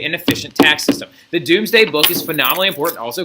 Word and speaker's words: Domesday: had written called the Doomsday book I know it's spelt Domesday book but it's actually pronounced doomsday book so what the Doomsday